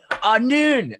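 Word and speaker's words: נ: A noon. Ah, That that's pretty is the correct pronunciation of the letter, by the way.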